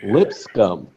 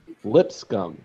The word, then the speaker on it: Lipscomb: Lipscomb. 2 syllables. Lipscomb.